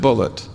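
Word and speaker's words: Bulliet: He spells his name B-U-L-L-I-E-T, and he pronounced it Bullitt. He corrected me. He said, no, my name's not Boulier, it's Bullitt.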